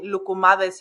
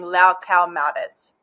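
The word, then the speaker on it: loukoumades: I hear you, but by that logic, then we shouldn't be saying lukumades in English. We should be saying lau cow mades because there's no OU in English.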